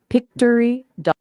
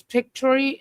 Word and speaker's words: Pictory: Pictory. Ai. It's P I C T O R Y. AI. Think picture story synthesia.